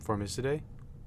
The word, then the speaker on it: Formicidae: Family, Formicidae. Formicidae? Yeah, it's probably a soft C. Yeah, Latin.